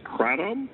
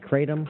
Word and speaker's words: kratom: is kind of interesting, is kratom or kratom. Not sure how you say it. You've heard of that stuff? Chris told me kratom? about that, I think. Didn't you, Chris? Kratom? Kratom, K-R-A-T-O-M. Kratom, I think it is.